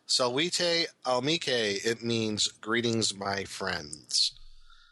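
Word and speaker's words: Salvete amici: To help for future reference, the greeting is pronounced Salvete Amice.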